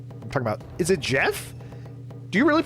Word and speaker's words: Geoff: I'm talking about, is it Jeff? Do you really pronounce that Jeff? Geoff. It's pronounced Jeff.